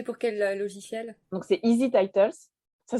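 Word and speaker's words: EZTitles: Donc, c'est Easy Titles. Ça s'écrit D'accord.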